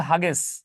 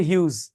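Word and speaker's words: Hughes: আরেকজন হচ্ছে Langston হিউজ এই হিউজ বানান দেখলে মনে হবে হাগেস কিন্তু উচ্চারণ হচ্ছে হিউজ এই দুইজনের কবিতা পড়লে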